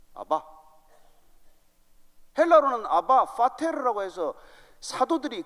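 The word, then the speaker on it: אבא: 아람어로 우리의 아빠와 똑같은 발음입니다. 아바.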